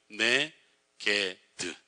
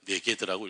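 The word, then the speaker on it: נגד: 네게드. 네게드란 말로 읽어요. 히브리어는 쓰진 않아요. 그냥 네게드라고 읽어요.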